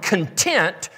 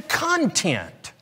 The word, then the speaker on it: content: to the fact that if you take that word content and you change the pronunciation of that word ever so slightly you take it from meaning well a satisfied feeling to looking at something that is inside you go from content to content and when we begin